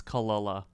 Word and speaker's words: Kelela: her in four ever found out that I've been pronouncing her name wrong this entire time it's not Kila it's kalala it's kalala La kalala she made a